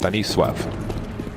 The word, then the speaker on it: Stanisław: Trivia: Stanislaw's name in Polish would be pronounced Stanisław, and I believe he is of Polish descent.